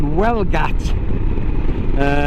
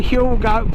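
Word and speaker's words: Huelgoat: where I live to a place called Welgat, which is actually, if you look at it, it's spelled Huel goat. In fact, that's what I used to call it. Oh, I'm going to get a Huel goat.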